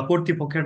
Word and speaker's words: কর্তৃপক্ষ: পক্ষের নাম হবে বা কর্তৃপক্ষের নাম হবে হচ্ছে বাংলাদেশ। সরি, এখানে কর্তৃপক্ষ উচ্চারণটা হবে যে সরকার কর্তৃক মোকদ্দমার